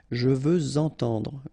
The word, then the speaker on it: je veux entendre: Even if we've got this X at the end, well, with the liaison it will sound like Z. Okay? Je veux entendre, je veux entendre.